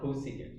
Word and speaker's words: cosecant: known as csc so the way that you pronounce this laserdom it's called cosecant now a lot of you're already looking at